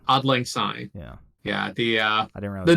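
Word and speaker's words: Auld Lang Syne: to pronounce this it's I believe it's Scottish is it Scottish I thought it was German isn't it oddling it's Scottish oddling oddling sign yeah yeah the uh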